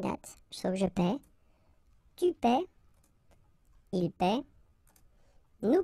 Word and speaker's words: paie: Okay, and in that case it's quite funny because we tend to make the difference maybe in pronunciation. So between this one, je paie, and then some persons can pronounce je paye.